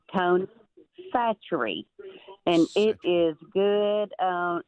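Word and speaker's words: Tony Chachere's: Didn't know how to pronounce the name. It's Tony Satchery and it is good on everything.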